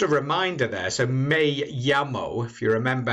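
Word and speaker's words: llamo: it it's me la lamo if you didn't know any spanish which your spaniard wouldn't understand of course because you have to say me yamo so if you're not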